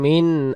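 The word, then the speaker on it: مِنْ: পড়া লাগতেছে, 4 আলিফ মাদ্দে মুত্তাসিল। তানাজ্জালুল মালাইকাতু ওয়ার-রূহু ফিহা বিইذনি রাব্বিহিম বিইذনি রাব্বিহিম বিইذনি রাব্বিহিম তানাজ্জালুল মালাইকাতু ওয়ার-রূহু ফিহা বিইذনি রাব্বিহিম মিন কুল্লি আমর। মিন হবে না, উচ্চারণ হবে মিং।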